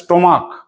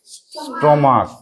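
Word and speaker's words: stomach: উচ্চারণটা দেখো এটা আছে স্টমাক। স্টমাক মানে নাড়ি ভুড়ি যেগুলো থাকে কি আছে? স্টমাক। কিসের মত উচ্চারণ হচ্ছে? ক এর মত।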